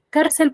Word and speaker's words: cárcel: Tiene 2 sílabas. Cel, última, y car, penúltima. ¿Sí?